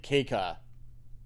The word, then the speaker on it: Keika: right and this is apparently keika is how you say the name I have to try